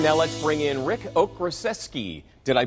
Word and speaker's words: Okraszewski: Now let's bring in Rick Okraszewski. Did I pronounce that right? That's good, John. Did I do it right? Close. Okraszewski is actually the Polish pronunciation.